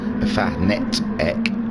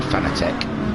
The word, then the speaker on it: Fanatec: he has got a Fanatec, or whatever it is you say it. I always said Fanatec, but I think it's pronounced Fanatec.